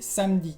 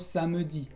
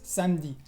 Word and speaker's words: samedi: El primer caso es cuando tienes una E entre dos consonantes en medio de una palabra. Sí, como samedi, que es sábado, ¿no? Sí, se dice samedi y no samedi, es samedi.